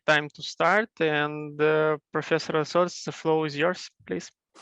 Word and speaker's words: Lasaulce: What is the right pronunciation? Samson? Yes, Lasaulce. Lasaulce, great.